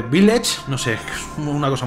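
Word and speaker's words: Village: el de la aldea villas aunque se dice viles no sé como una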